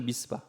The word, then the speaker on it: 미스바: 라반은 그것을 미스바, 히브리식 발음은 미츠바입니다.